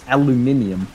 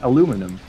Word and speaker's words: aluminium: one one for now it's it's alluminium I don't know why like a lot of people pronounce it aluminum because I think lettuce